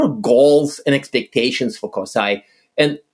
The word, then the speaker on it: CoSAI: an approved acronym coai I think coai is what coai is the approved pronunciation of it coai cool okay awesome